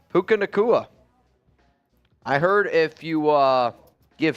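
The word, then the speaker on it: Puka Nacua: How do you pronounce that? Puka Nakua. Puka Nakua. I heard if you give him, when he evolves, he turns into Raichu. Puka Nakua.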